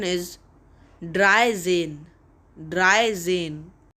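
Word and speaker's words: dreizehn: zolf d-r-i-e-z-e-h-n is 13 in german and its pronunciation is dry zine dry zine v i e r z e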